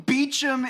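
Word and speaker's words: Beauchamp: Well, you mean beachum is spelled b e a u c h a m p. That's not how you say beach.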